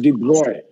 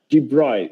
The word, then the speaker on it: de Broglie: have the de broglie relation actually it is pronounced as de bruyne de bruyne it's a french name de bruy he was